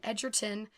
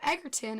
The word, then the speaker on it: Egerton: the golden circle starring Taran Edgerton not egerton as we've been pronouncing Oh whoopsie if you